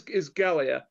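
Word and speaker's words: Galleia: wish they did is, how do you pronounce the queen's name? Galea? No. The king. The queen. The queen is Galia, which I misheard as Gallagher.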